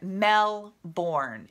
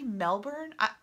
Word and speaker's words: Melbourne: And I see Liz just said, as in Melbourne. Is it really Melbourne?